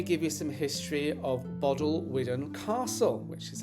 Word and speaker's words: Bodelwyddan Castle: But first, let me give you some history of Bodelwyddan Castle, which is how I learned to pronounce it.